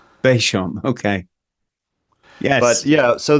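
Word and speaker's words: Béchamp: I believe it's Beauchamp. Beauchamp.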